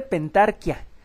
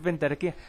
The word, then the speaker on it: pentarquía: Bueno, se pronuncia correctamente pentarquia, pero yo estoy acostumbrado a decir pentarquía.